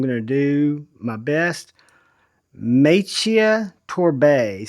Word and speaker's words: Maciej Torbé: name, but I'm going to do my best, Maciej Torbé, spelled M-A-C-I-E-J. Torbé is spelled T-O-R-B-E.